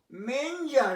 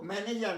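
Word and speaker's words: manger: মেঞ্জার, MANGR, দেখো ম্যানেজার না, মেঞ্জার, উচ্চারণটা যে মেঞ্জার, ম্যান না।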